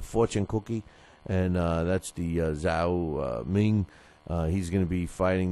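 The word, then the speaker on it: Zou Shiming: Brian Valora, it's Zhao Shming is how you say it.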